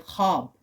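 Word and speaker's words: خواب: जैसे कि जब हम लफ्ज लिखते हैं ऐसे हम पढ़ते हैं ख्वाब। हम पढ़ते हैं ख्वाब। वो वाव जो है वो साइलेंट हो जाती है यहां पे।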